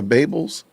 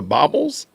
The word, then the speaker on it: bauble: Those are Babels? Yo, wow. Are those bangle earrings? Those are baubles? Y'all are wild. So y'all refuse to pronounce it correctly?